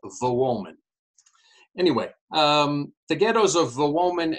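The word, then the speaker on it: Wołomin: As you may know, the W in Polish is pronounced like the English V, while the L with a line through it is pronounced like the English W. And so what looks to the American reader as Wolomin is pronounced in Polish as Wolomin.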